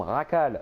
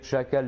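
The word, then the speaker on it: Jackal: des nouveaux personnages comme Racal. Hein, pour ceux, petite culture, le J se prononce re en espagnol. Racal, arrêtez de dire chacal, les gars, franchement, oh, vous faites pitié.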